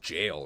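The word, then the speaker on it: gaol: believe this is pronounced jail right I thought it was G cuz that's what it looks like but I think this is just like the British way to write jail I learned that from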